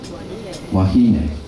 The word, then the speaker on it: wahine: Remember, the E is always pronounced as hey. Wahine.